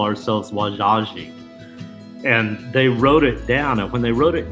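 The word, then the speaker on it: Wazhazhe: french encountered the osage we also call ourselves wajaji and they wrote it down and when they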